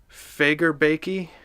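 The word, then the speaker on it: Fagerbakke: pronouncing his last name it's Fager baekje it looks like Fagor and i had to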